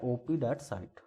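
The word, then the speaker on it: op. cit.: तो दूसरा है ओपी डॉट साइट, ओपी डॉट सी आई टी, जैसे भी आप प्रोनाउंस करें इसको।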